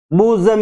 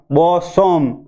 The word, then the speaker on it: bosom: ऐसे ये बूजम इसका सही उच्चारण है। यदि इसका आप गलत उच्चारण करेंगे बी ओ बो एसो सो और म बोसोम, तो बोसोम जब बोलेंगे तो हमारा उच्चारण गलत हो जाएगा, और उच्चारण गलत